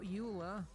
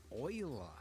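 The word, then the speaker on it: Euler: Uh we need to add shift a utilities, rotation, rotate, not uler, oiler. Yes, I know they went with the weird pronunciation.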